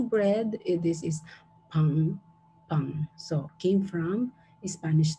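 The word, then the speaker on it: パン: This is pang, pang.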